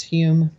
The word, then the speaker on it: Home: Home, I think his name is Hume. It's pronounced Hume, even though it was spelled H-O-M-E.